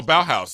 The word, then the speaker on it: Bauhaus: I picked up a Joy Division shirt and a Baja shirt. Okay. So. Who's Baja? Baja's there, or I might be saying it wrong. Oh, Bauhaus. Okay. Bauhaus, yeah.